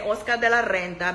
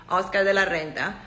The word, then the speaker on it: Oscar de la Renta: And yes, I'm going to say Oscar de la Renta because I'm Latin and that's his motherfucker name.